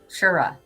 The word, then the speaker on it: Truro: So Dawn is saying where she lives is called Truro, but Yep. the local pronounce it Shura.